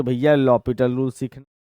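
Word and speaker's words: L'Hôpital: का हमारा टॉपिक है लॉपिटल रूल लिखा होता है एच सॉरी एल हॉस्पिटल लेकिन लॉपिटल रूल पढ़ते हैं तो हम लोग इसको लॉपिटल इसका नाम है एच इसमें साइलेंट है लॉपिटल रूल या इनटरमिनेट फॉर्म भी कह सकते हो आप।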